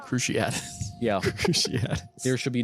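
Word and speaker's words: Cruciatus: __ ] is a CR catus curse stop stop you're saying it wrong cruciat yeah cruciat there should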